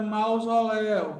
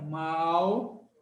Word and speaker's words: mausoléu: Mesma coisa para mausoléu. Mausoléu. Quem é o forte? Mausoléu. Então, essa é uma sílaba oxítona, tá?